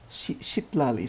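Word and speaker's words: Citlali: Shitlali, so that's how you pronounce her name.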